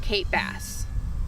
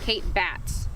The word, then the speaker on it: Kate Batts: is the Bell which Kate bass I mean I'm so sorry I pronounced that wrong Kate batts is the Bell Witch